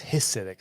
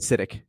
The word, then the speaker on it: Hasidic: I thought it was Hasidic. So sorry. You said Hasidic. Hasidic. I said Hasidic. Yeah, like it's his idic. Yeah, it's Hasidic. Hasidic.